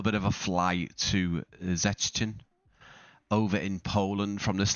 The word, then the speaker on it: Szczecin: This is Szczecin. Is that how you say it? I think it's pronounced as a Z.